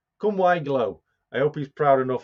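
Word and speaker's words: Cwm-y-glo: just bear with me come why glow that's how you pronounce it come why glow that's the welsh pronunciation of this modeller's moment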